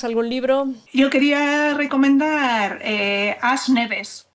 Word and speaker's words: As Neves: Yo quería recomendar As Neves, que no es que esté pronunciando mal el inglés, es en gallego.